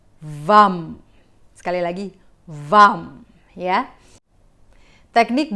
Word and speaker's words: vam: Mantra VAM ini tulisannya kalau dalam bahasa Indonesia FAM ya, bacanya mungkin FAM. Tapi di dalam bahasa Sanskerta kita membacanya menjadi VAM. VAM.